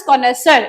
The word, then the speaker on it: connoisseur: इसको वर्ड को देख लेंगे, दैट इज कॉनेसर। इसकी प्रोनाउंसिएशन ऐसे है।